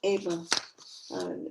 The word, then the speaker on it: Ava: Ava. It's the Spanish pronunciation of Ava.